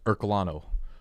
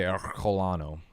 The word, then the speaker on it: Ercolano: it however you want it's ercolano ercolano or my very Italian Aunt would say colano some